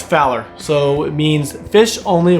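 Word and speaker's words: FOWLR: what fowler means and is spelled like is f o this w r so we say it as fowler so it means fish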